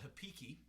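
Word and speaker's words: repique: you'd see in carnival this is called a hipiki or uh happening or it's actually spelled with an r but brazilians they dropped their r's at the beginning of the words so hep is r-e-p-i-q-u-e i believe um so you got your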